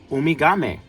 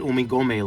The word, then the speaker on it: Umigame: I Correct me if I'm wrong of uh Umigame. I almost said Umigome like how Goku says it.